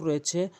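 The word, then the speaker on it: ر: র র জিহ্বার আগাটি উল্টিয়ে উপরের তালুর সঙ্গে লাগাবেন। জিহ্বার আগাটি উল্টিয়ে উপরের তালুর সঙ্গে র র র এভাবে উচ্চারণ করবেন।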